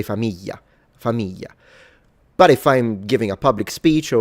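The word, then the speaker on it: famiglie: Either you pronounce it like it's supposed to be which is famili famil. That's how it's supposed to be pronounced. Or you pronounce it in the southern way, which is a Y. Famili with a Y. Or you pronounce it the northern way, which is an L.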